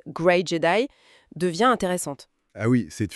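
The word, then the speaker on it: Grey Jedi: Et dans cette logique, l'idée du Jedi gris qu'on prononce à l'anglaise gray Jedi devient intéressante.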